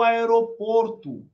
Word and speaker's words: aéroport: Onde está o aeroporto? Aeroport. Não é aeroporto, tá, pessoal?